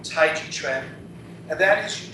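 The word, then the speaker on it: 太極: I know some of you pronounce it Tai Chi. It's actually pronounced Tai Chi. The word Chi is not in the name Tai Chi.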